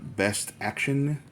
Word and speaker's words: BST AXN: And this is from Best Action, I believe is how it's pronounced.